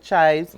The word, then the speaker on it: chives: We have the the the ingredients are capers and olives and chives. Chives. Um I will never live that down. Apparently you pronounce the ch right.